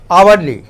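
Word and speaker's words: hourly: आवरली। यहाँ भी एच आपका साइलेंट है। हम एच को, हम पूरे सेंटेंस को जब, पूरे वर्ड को जब पढ़ते हैं तो क्या पढ़ते हैं? आवरली।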